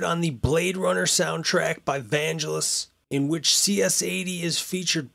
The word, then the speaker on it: Vangelis: Alright, so according to voice pronunciation lady, she says it's Vangelis.